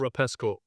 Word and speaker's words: Rapsco: the whole time because the brand is called Rapsco, r a p s c o. Shout out to that brand. Or Rapsco. Rapsco. Probably more likely to be pronounced.